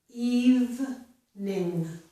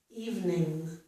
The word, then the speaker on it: evening: And in this word, we do not pronounce the second E. So we pronounce this as a 2-syllable word, evening, evening.